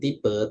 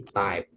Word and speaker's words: type: Kemudian tipe, nah itu type ya, bukan tipe tapi type.